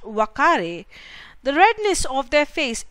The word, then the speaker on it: Uakari: The Uakari is pronounced Wakari.